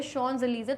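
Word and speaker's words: Champs-Élysées: शॉन्स एलिजे, इस वर्ड का जो प्रोनाउंसिएशन है वो है शॉन्स एलिजे, तो शॉन्स एलिजे नाम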